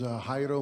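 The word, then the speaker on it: Jairo: My name is Hyro. First name is spelled J A I R O.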